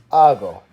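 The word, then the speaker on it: hago: form acid conjugates to AH go when you're spelling it out don't forget the silent H at the beginning of the word on some verbs we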